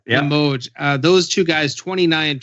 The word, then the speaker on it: Limoges: Evan Barrett and Alex, I hope I say it right, Limoges. Limoges, yeah. Limoges.